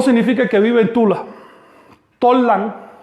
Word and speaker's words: Tollan: Tollan, que es como se pronunciaba antiguamente Tula, Tollan solo quiere decir capital y era el nombre genérico de un montón de ciudades, incluyendo la actual Tula.